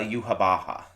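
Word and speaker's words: Yhwach: everything and I'm definitely excited to see uh yuab Baha which I really hope they continue that pronunciation because it's hilarious to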